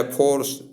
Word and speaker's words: force: उस तरह से फोर्स, FORCE, फोर्स, आप इसका उच्चारण करें।